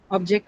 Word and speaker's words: object: So when you use a object as a noun in a sentence then obviously any any noun we know is stressed on the first uh syllable.